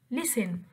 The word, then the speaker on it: listen: listen ونخلي بالنا ان T هنا ايه؟ silent، مش بننطقها. اوكي question number 3 ها draw، draw يرسم، ببص للصورة وبعدين بعرف وكمان ببص للحروف.